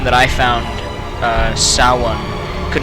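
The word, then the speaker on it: Samhain: Oh, by the way, I found, or I think I found, the pronunciation of what I was previously calling Sam Hain, because I'm American and we're silly like that.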